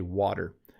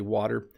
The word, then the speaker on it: water: But yes, we say better, we say water. Water and better sound a lot like ladder, even though ladder has D's in it.